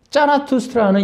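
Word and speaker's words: Zarathustra: 만드는 바벨론 이론이 여러분 짜라투스트라는 이렇게 말했다 얘 얘기했죠 그러니까이 세상에 바벨탑을 누가 만들어요 바벨 세력들이 만들잖아요 바벨론에서 만들어진 종교가 뭐예요 조로아스터교 그 조로아스터교의 조로 아스터가 독일로 발음으로 짜라투스트라 그 니체가 말하잖아요 짜라투스트라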